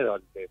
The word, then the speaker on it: Daulté: decime si lo pronuncié bien. ¿Cómo es el apellido? ¿Daulté con L o Daulté? Se dice Daulté, pero...